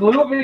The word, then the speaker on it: Louvier: That is the French way of saying his last name. How do you say that? Louvier? Or It's Louvier that's to me.